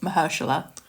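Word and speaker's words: Mahershala: You worried about that or Okay, so I think I need to bring up that we are saying uh Mr. Ali's name wrong. It's actually Mahersula.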